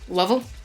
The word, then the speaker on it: Louisville: um Kentucky Kentucky and Louisville Louisville which I understand is two syllables look at their yeah